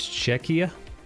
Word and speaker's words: Czechia: You got the Che part right, but the Chia isn't pronounced Chia, it's pronounced Kia. So it's Czechia.